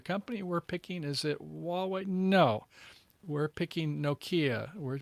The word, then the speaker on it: Huawei: the company that is the leader in china is spelled h-u-a-w-e-i and how would you pronounce that it's called